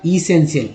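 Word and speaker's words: essential: देखिए टी आई एल को मैंने शुरू में ही बताया था, टी आई एल को सीएल पढ़ते हैं, याद रखिए क्या सीएल। टी का उच्चारण यहाँ पर श के रूप में हुआ इसेंशियल।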